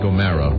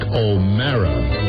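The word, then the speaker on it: O'Meara: And Mike O'Mara. The name is spelled O-M-E-A-R-A. Mike O'Mara.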